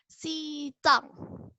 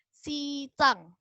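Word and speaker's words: 西藏: Dengerin ya cara bacanya. Xizang. Lagi. Xizang.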